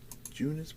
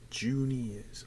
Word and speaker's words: Junius: I looked at it, I said, it could be Junis Bartholomew, but I'm gonna check. Junius.